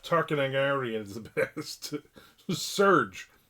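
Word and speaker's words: Serj: Ladies and gentlemen, Seth Tarkinagarian is the best. Serge Serge, I think is how you pronounce it. Not Seth.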